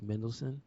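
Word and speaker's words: Mendelsohn: Oh, his name is spelled in such a way that you don't realize it's very simple. It's Mendelssohn, Yeah.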